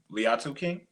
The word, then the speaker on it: Liatu King: Liatu King. Very good. Le I did it. I did it right. Say it correctly. Latu King. Close enough. The eye is silent.